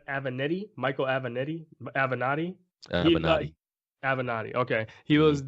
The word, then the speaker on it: Avenatti: a vanetti I said I sound like a banana have an eye I saw you mispronouncing that she I'm correcting mr. avenatti he is currently under investigation for allegedly trying